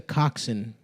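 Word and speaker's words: coxswain: No, that's a coxin, Adam. A swain. I think it's a coxin. Maybe it's pronounced coxin, but it's co ox w a i n.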